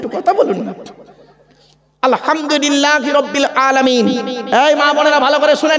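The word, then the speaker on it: الحمد لله: বলেন না কথা বলুন আলহামদুলিল্লাহি রাব্বিল আলামিন ভালো করে শুনে নিন আলহামদু গলার তর থেকে উচ্চারণ করবেন আলহামদুলিল্লাহ এর মানে কি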